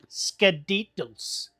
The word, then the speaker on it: Skadiddle: in the Wraith Squirrel tongue, it's actually Skadiddles. But, let me say it properly. Skadiddle. Yeah, but I shorten it to Skittles.